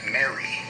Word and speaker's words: mare: The normal commoner would pronounce it as it sounds. Esoterically, it's pronounced Mary.